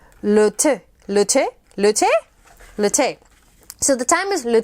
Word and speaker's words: thym: Thankfully, Marie LeTourneau gave us this handy-dandy French pronunciation. There's le bouillon. The thyme is le thé.